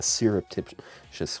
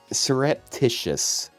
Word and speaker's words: surreptitious: say it in a syruptitious way I think serup I'm saying syrup because I'm stupid Sur surreptitious surreptitious iously surreptitious I know the word but but you said it wrong in my mind like